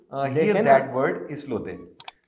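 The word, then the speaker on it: Islote: अच्छा, इसका ना मैंने प्रोनाउंसिएशन बाकायदा चेक किया था। अच्छा, हाँ, मैंने कहा ये आई लॉट ना हो, स्पेनिश वर्ड है और ये इस लोते ही बोला जाएगा, इस लोते, इस लोते, इस लोते।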